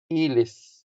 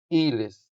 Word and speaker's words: ilis: to change, translates into ilis ilis eelis As you can hear, the stress falls on the first syllable, making the first e longer than the second e.